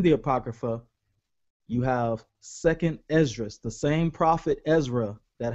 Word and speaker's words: Esdras: That same prophet Ezra, the way you say his name in the Greek is Esdras. It's the same guy.